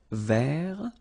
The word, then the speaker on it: vert: remember rou so masculine form don't pronounce the final t ver feminine form ver so listen carefully I don't say but it's ver ver okay so as usual